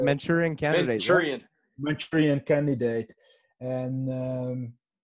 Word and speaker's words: Manchurian: No, you're pronouncing it right. Manchurian candidate.